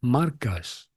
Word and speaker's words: Marcus: mí me dicen Marcus pero es que Marcus se pronuncia marcas Marcos Carrasco y Marcus